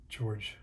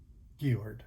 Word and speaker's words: Georg: So like I done a painting of George or Yord. There we go. German pronunciation.